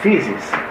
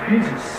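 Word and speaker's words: φύσις: Natureza, physis. Physis lá embaixo, tá? Significa a gênese das coisas que crescem, sentido insinuado se pronunciarmos o U de physis longo.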